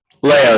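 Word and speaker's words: Leao: name is spelled i-g-o-r last name Leo l-e-a-o good morning officer is it Leo Leo yes sir okay come on officer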